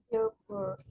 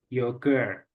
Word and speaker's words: yogurt: berarti oke nah itu pronounsiation-nya gimana tadi yogurt yogurt Oke gimana yogurt Oke jadi h-nya enggak dibaca ya alright Oke now